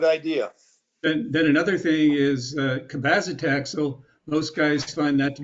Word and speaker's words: cabazitaxel: Cabazitaxel.